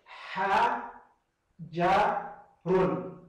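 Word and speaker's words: حجر: Ha. Ja. Run. Pronuncia comigo, fala comigo, repita comigo. Ha, de pato. Ha, ha. Ha, já, já. Run, run, de rua, de rio.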